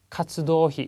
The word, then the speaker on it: 活動費: 다음에 나와 있는 게 카츠도히 그렇습니다. 자, 노가 발음이 기네요. 또 주의를 해주십시오.